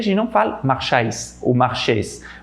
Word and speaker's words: marchais: saber qual que é o jeito certo de pronunciar. O outro exemplo seria je marchais dans la rue, eu andava na rua, je marchais dans la rue.